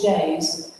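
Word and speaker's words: Daze: The series is called Cottage Days, but Days is spelled D-A-Z-E.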